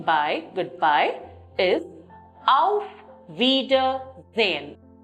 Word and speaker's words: Auf Wiedersehen: The formal way of saying bye, goodbye, is Auf Wiedersehen. Auf Wiedersehen. Wieder is again, sehen is to see. That is, to see you again. Look at the syllabic pronunciation, Auf Wiedersehen.